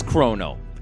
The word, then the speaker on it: Chrono: more than the alternative so here it is in Japanese KU roll no his name is chrono clear as crystal I've asked my partner